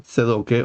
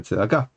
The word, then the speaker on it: Tzedakah: Por ejemplo, Tzedoke o Tzduke en lugar de Tzedakah. Y Israel en lugar de Israel, Bruja en lugar de Brajá. Así, en lo sucesivo, uno sabe que pronuncia según el estilo yiddish, pero si hace un